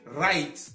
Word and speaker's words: write: Sinon, comme vous le voyez, to write, le W ne se lit pas. To write, on lit write, on entend le R directement. Le W disparaît dans la prononciation.